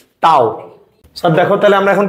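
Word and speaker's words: tau: টর্ককে যে সাইন দ্বারা প্রকাশ করা হয় এটার উচ্চারণ কি? টাও।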